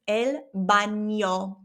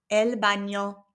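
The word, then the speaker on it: baño: This word also has that squiggly line over the n. So it becomes elo. Okay. It has that ny sound elo.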